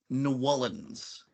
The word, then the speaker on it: New Orleans: Or Nyolans. Okay, I went to LSU, so I got the pronunciation, because it's a weird one, is New Orleans.